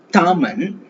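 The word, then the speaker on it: 他们: So again அந்த இந்த D sound வரும்போது நாம அந்த காற்று வந்து வாயில இருந்து நல்லா ஃபோர்ஸா வெளியே வரணும். தா தா. அதுக்கு பாத்தீங்கன்னா நம்ம இட் ப்ரொனவுன்ஸ் பண்ற மாதிரி இட், தா. ஓகே. சேம்.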